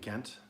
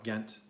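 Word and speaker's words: Ghent: Some say the G is silent. They call it hent. I don't know. I call it Gent.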